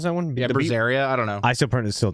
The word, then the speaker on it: Berseria: I still think Vesperia, not Vesperia, Bizarria. How do you even pronounce that one? Yeah, Berseria.